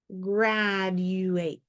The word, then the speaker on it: graduate: spe uh to read Because when you say graduate quickly and blend it all together like a word graduate it automatically comes out like a j sound um but when you're